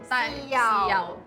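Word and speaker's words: 豉油: There must be soya sauce "Kim you" (Cantonese pronunciation) It's "jeung yau" "Si yau"... would be more accurate "Si yau"? Like "see you tomorrow" You?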